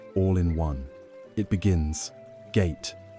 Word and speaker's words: gate: Gate pronounced ga-te.